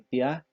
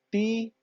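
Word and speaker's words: tía: Usted no dice Raúl, ni Saúl, ni Tia, ni Río. Usted dice claramente Raúl, Saúl, Tia, Río. Quiere decir que acá, aunque las vocales estén juntas, se pronuncian en dos sílabas.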